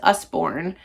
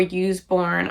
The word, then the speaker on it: Usborne: the I believe it's pronounced Usborne or use born I'm not sure I know they're pretty